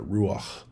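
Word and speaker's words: רוּחַ: in order to pronounce ruach so to say ruach especially that uh that at the end you need a lot of breath there ruach so that just ties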